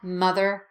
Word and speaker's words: mother: it to point out that mother and brothers should rhyme they're both pronounced with the sound not the ah sound so I'm not mother and brother but uh small your mouth doesn't move it's not mother and brother with a big drop keep it small mother brother mother brother good sister daughter ignore